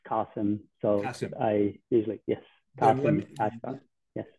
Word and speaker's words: Kasim: in many ways like in many cases people pronounce it kasim but then actually it's qasim so I usually yes